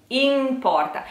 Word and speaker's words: in porta: the need when it when you put the in and porta together you will hear the ends quite like an M importa it's not important because